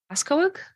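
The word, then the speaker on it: Pascoag: Pasco. That was close. Yes. So, the G the G is kind of silent. I've always said it. Pasco.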